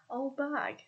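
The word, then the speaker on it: auld baig: We pronounce it old bag, which is similar but obviously different spelling to the other counties of England.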